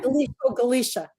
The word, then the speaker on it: Galicia: Galicia, soft C.